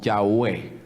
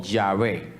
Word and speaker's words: Yahweh: Pero el nombre se pronunciaba, y es muy seguro que sonaba algo como Yahweh o Yahvé, ¿sí? Algo así sonaría el nombre.